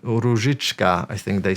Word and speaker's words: Różyczka: So O with this line above, it's U. So in Polish, we've got two letters for the same sound, U. And then Ż. Again, not really, this sound does not exist in English, maybe apart from the word like vision. If you pronounce it in a hard way, vision, then you have a Ż.